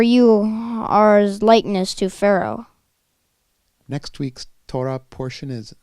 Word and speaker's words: פרעה: Pharaoh is the proper name of Pharaoh and can also be pronounced Paro.